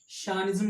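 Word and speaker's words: chauvinism: इसका जो प्रोनाउंसिएशन है ध्यान से देखिएगा, शानिज्म कहते हैं इसे।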